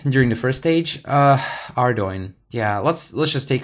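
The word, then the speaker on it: Ardougne: you to ardoin during the first stage uh ardoin yeah let's let's just take a moment to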